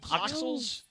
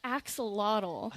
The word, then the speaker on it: axolotl: Oxals. What is it? Axolotl. See, I knew I was going to screw up the pronunciation.